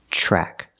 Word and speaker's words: track: lost track the TRN track is pronounced with the CH sound like chicken track lost track he lost